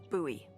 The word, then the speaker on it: Bowie: And then all of a sudden, with It's actually pronounced Bowie. what? No, it's like the last name, like David Bowie.